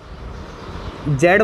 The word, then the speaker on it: Z: जेड बोलते हो या जी बोलते हो, तुम जो भी बोलते हो सही है, मैं जेड बोल देता हूँ, कभी कभी जी भी बोलता हूँ, तो जो भी प्रोनाउंस कर रहे हो, साइंस स्टूडेंट है यार, कोई फर्क नहीं पड़ता, जो भी बोलो बोल दिए।